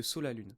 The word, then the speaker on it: Sa la Lune: On le prononce effectivement Sa la lune parce que reprend la dernière syllabe de son ancien pseudo qui est Verseau et on ajoute à ça là où il a vécu au Comor, c'est-à-dire sur l'île de la Luna.